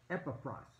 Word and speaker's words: Epaphras: If you don't know how to pronounce it, Epaphras.